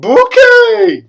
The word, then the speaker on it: Bucket: how you all doing everybody uh look at this hyacinth bouquet it's spelled bucket but she says hi isn't the bouquet keeping